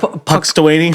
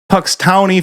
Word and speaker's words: Punxsutawney: Puxtawaney, Phil? Puxtawaney. Okay, guys. I've never seen Groundhog's Day. Say it right. Puxtowny Phil. Punxsutawney Phil.